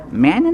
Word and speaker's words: Manion: Okay, I am here with Father Kevin Manion, is it pronounced?